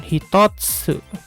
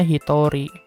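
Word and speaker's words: 一人: Hito Hai artinya berubah Bukan hitotsu Ya bukan stats tapi jadi Hitori padahal ini kanji Hito atau kanji Jin ya ini kanji Hito kanji jin tapi kalau dikasih angka 1 dibacanya Hitori sama kayak gini dua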